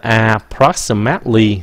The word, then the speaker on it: approximately: Các bạn đừng có thấy là approximately, không phải là mately nữa, nó là mately, approximately. Cái âm nhấn là cái âm thứ nhì, approximately.